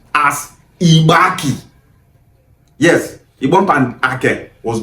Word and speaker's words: Igbanke: That name Ibank is originally pronounced as Ibaki. Yes, Ibank and A was joined together and that is Ibaki.